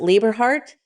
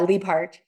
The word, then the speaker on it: Liebhardt: Is it Lieberhart? Yeah, Liebhardt. Liebhardt. Okay, I added extra syllable in there.